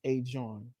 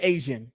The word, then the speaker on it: Asiahn: It's pronounced A John. It looks like Asian Uh, with an H, so I'm gonna call her Asian.